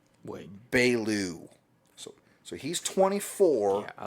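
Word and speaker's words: Beaulieu: It's Bailu.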